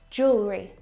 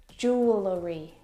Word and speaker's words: jewelry: clothes too Jewelry jewelry jewelry again we've got an extra vowel here that we don't need to pronounce we don't say jewellery jewellery it's just jewelry